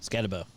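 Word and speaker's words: Skattebo: Scatteraboo. Scatterabau. How do you say it? Scatabo.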